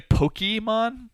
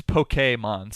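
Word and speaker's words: Pokémon: Pokemon there you go some people say Pokemon um it's Pokemon supposedly how about the main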